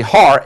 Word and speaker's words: Har: In Hebrew, it is actually Har, H-A-R-M-A-G-E-D-O-N, as Har, H-A-R, means mountain in Hebrew. So it's the mountain of Megiddo is a Greek rendering, since H is silent in the Hebrew.